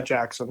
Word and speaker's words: Jaxson: You would think it's pronounced a different way because it's spelled so ridiculously. But yeah, Jackson.